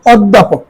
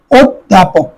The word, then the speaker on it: অধ্যাপক: হয়েছে অকৃতজ্ঞ অকৃতজ্ঞ এখানে এই জটা তোমার গ উচ্চারণ করা অকৃতজ্ঞ এরপরে দেখ অধ্যাপক অধ্যাপক এখানে জফলা যুক্ত শব্দের ওকার হয়ে গেছে অধ্যাপক অধ্যাপক খেয়াল করো অধ্যাপক হসন্ত এরপরে অভিধান রসিককার